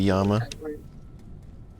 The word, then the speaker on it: llama: l there's two l's this is like spanish pronunciation where two l's is a y sound they say that's that works right like llama is actually yama yeah although yama in